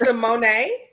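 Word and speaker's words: Symoné: on Tick Tock that her name is not excited to see her it's a Monet yeah like she told us today we've been pronouncing her name wrong so Miss Simone was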